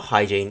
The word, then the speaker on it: hygiene: good stuff the spelling for hygiene is very weird so make sure you pay extra attention to it the word ends with the e n e to create the in sound which is normally spelt with e e n so be careful with that one also there's a very sneaky i in there before the e and e your next word is